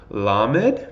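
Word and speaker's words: ל: its most important words la med makes the L sound mem obviously the M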